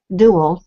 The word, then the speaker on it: Duell: and then the other one that I guess I'm the official founder, but Jess Duell, she is Dual. I always say her name wrong.